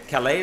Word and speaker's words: Kalei: Kalei is how you pronounce it?